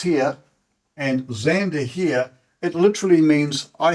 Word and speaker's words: Xander: I've got for X are Xander for males x a n d e r and that would then be pronounced Xander it's the way in which it's